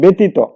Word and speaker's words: ব্যতীত: সুতরাং সেটা কিন্তু লিখবো আমরা বয় একার, তয় রস্যিকার, তয় ওকার।